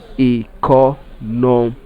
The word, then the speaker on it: economic: Now let us pronounce this word economic.